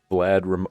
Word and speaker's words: Vlad: Vlad rhymes with bad.